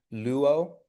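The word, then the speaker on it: λύω: Um, but because they're not one of the listed diff thongs, we're going to pronounce them separately. So, you wouldn't try to make it like lu or something like that. It it'll be separate. Luo.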